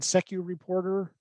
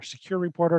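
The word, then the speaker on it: SecuReporter: We've now integrated Secu Reporter or Secure Reporter, depending on who you're talking to, how it's pronounced, with Nebula Cloud.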